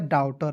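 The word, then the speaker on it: daughter: उसके बाद देखिए डी का ड लिखना है, AU है तो इसका उच्चारण अ के रूप में करेंगे, GH को काट दीजिए, TER को टर लिख दीजिए, क्या हो गया, डाउटर।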